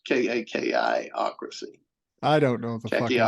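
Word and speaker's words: kakistocracy: We were a combination of oligarchy, a kleptocracy, and a kakostic, which means, the lowest common denominators running things. Right. I Right. mispronounced it, but it's KAKI-ocracy.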